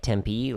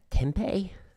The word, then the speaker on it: Tempe: And it's not spelled like Tempe, like the city in Arizona. It's P-I instead of P-E.